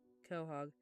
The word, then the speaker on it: Quahog: Lucky sent a pronunciation earlier and I didn't hear it. Quahog.